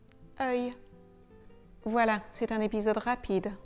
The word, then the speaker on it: œil: On ne prononce pas le L dans œil comme un L normal, donc on ne le prononce pas le.